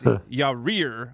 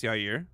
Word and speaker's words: Yair: But while Chael says Yair, I know it's Yair.